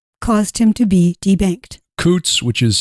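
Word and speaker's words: Coutts: opinions yeah that caused him to be debanked Coots which is spelled c-o-u-t-t-s it which is a it's a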